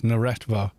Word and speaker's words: Neretva: I think Arid Rift and the Neretva Canyons, I had to think now because I've always said it wrong. And then looked up how you actually say that word, and it's Neretva.